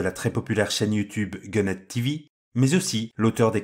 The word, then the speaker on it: Gunhead: ou faut le prononcer à la française peut-être. Non, Gunhead TV, c'est très très bien.